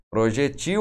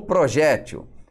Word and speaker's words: projétil: ali da arma né projetil ou projétil é xerox ou xérox